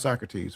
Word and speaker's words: Socrates: See Socrates and it is pronounced Socrates for those of you who get ready to say so.